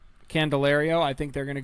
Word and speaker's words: Candelario: And the third baseman, how do you pronounce his name? Candelario. Candelario.